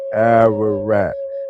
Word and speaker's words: Ararat: So when you translate Armenia in Hebrew, the transliteration is Ararat, pronunciation Ararat, of foreign origin, Ararat.